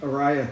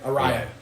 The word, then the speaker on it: Araya: How do you pronounce his last name? Araya. Araya.